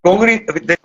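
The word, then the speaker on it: congrí: Congri, te corrijo, no se dice congri, el acento está en la I.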